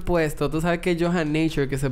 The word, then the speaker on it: Yohan Nature: Tú sabes que es Yohan Nature que se pronuncia. Uh-huh. Pero cuando yo doy los tours del barrio chino, la gente me dice Johanna Tour.